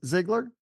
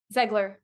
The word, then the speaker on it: Zegler: Ziegler? Zegler.